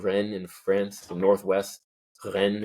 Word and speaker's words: Rennes: Rennes is how they say it. Rennes. It's almost like my mom's name, Renee, with an S, but it's 2 N's instead of 2 E's.